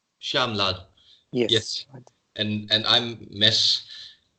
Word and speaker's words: Shyaamlal: May I ask you how's your name pronounced? Shamlal? Yes, Shyamlal. Shamlal.